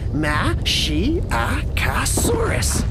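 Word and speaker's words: Masiakasaurus: I'm Mashiachosaurus. You say it like this, Ma-shi-a-ca-saurus.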